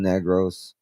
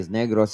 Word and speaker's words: Negros: Now, just real quick, for those of you who are wondering, we've covered people from Negros.